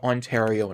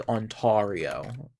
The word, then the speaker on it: Ontario: and those are now Ontario and Quebec. It is really funny when I I see Americans pronounce it as Entario.